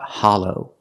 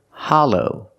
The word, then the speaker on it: hollow: and hot ha Hollow the second syllable is the long o like go and no together Hollow Hollow is an adjective